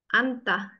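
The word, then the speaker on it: 앉다: Lalu ini antah, duduk. Bacanya antah. Bawahnya biarpun ada N sama J, tapi bacanya anta. An, hanya hilang.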